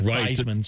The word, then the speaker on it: Theismann: What if you're Joe Theismann though, and you change your pronunciation to Theismann to rhyme with Heisman?